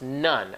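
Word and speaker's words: ن: It's pronounced, when it says we are N, it's pronounced none, as is N-U-N.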